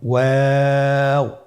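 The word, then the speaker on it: واو: আজকের পর্বের পরবর্তী হরফটি হলো ওয়াও। আমরা স্ক্রিনে দেখতে পাচ্ছি ওয়াও হরফটি উচ্চারণের ক্ষেত্রে বারিক হবে এবং 3 আলিফ টেনে পড়তে হবে।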